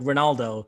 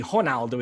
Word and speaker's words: Ronaldo: name, it would be Ronaldo. In Portuguese, the R is pronounced like an H, but that's okay with the biggest star in the world to anglify it or whatever.